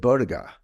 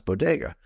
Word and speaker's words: bodega: ago and she said Boda and I was like what the heck's Boda but I realized that she couldn't pronounce Bodega it which is you know Spanish that's how you say it uh but I like